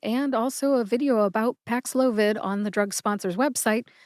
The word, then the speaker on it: Paxlovid: media relations department and also a video about Pax loid on the drug sponsor website I'm on team nurat trir let's review We divided Pax loid nurat and ranir into syllables then we talked about which syllables were